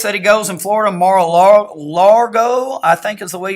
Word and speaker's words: Mar-a-Lago: So this is President Trump has this place that he goes in Florida, Mar-a-Lago, I think is the way you pronounce it.